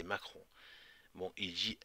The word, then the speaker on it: Macron: Il parle de, là, ça dit Mahon, mais en fait, il dit Macron. C'est pas parce qu'il le prononce mal, mais c'est Macron.